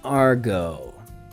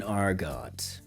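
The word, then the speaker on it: argot: which could be idiom or an Argo or depending on your pronunciation in arot okay this okay so that would be a r g o t so what would this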